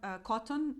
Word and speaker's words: Kotn: Then we have Cotton. It's spelled Kotn.